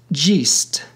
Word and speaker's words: jest: Jest and great rhymed with the word eat in Shakespeare's London. Thus, they were pronounced jeest, eat, and greet. Nothing was pronounced noting.